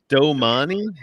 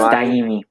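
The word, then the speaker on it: Dyami: How do you say his name? Domani? It's Daimi. It's Daimi.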